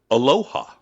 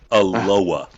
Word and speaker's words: Aloha: So there is a town on the west side that is spelled aloha. That's how you say it though. It's aloha. How? Aloa.